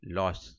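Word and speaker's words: Lösch: ठीक है, ये है LOSCH लॉस। ठीक है, इसको लॉस कहते हैं, प्रोनाउंस करते हैं।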